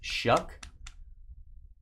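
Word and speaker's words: Shough: You say his name Shuck. I just I don't see how that's possible. Sh. H O U G H is Shuck.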